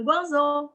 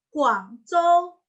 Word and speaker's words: Guangzhou: Terus contoh, misalkan lagi ya, gue besok mau ke Guangzhou, bukan Guangzhou, tapi Guangzhou, Guangzhou, karena G dibacanya K, ZH seperti CH, ZH seperti CH, Guangzhou, Guangzhou, Zhou, Guangzhou, kayak gitu ya, Guangzhou, kayak gitu.